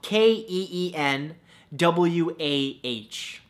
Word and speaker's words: quinoa: it's a beautiful thing number two quinoa spelled ke en wuah no that's not how it's spelt at all but it should right come on English